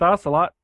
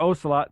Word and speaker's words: Ocelot: And I'm here with Ocelot, or Ocelot, depending on how one would pronounce it.